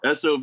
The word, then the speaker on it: SOV: __ ] sob horror i say sob because i abbreviate everything like a goober it's not supposed to be pronounced that way sov horror today released two